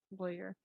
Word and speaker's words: lawyer: So my next one is, how do you pronounce the first syllable of Lawer? So first syllable rhymes with boy or rhymes with flaw. So it would be lawyer or lawyer. Oh, so We lawyer.